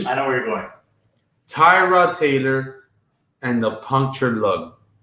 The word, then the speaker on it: Tyrod: So it's not Tyrod, it's Tyrod.